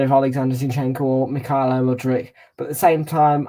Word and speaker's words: Mudryk: Mikhailo Mudryk to score to get on the score sheet first. It's spelled Charlie.